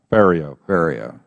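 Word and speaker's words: Ferriero: off saying yours wrong rhymes with stereo Theo bar thank you okay well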